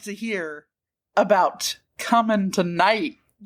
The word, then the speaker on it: Cummingtonite: I would like to hear about coming tonight.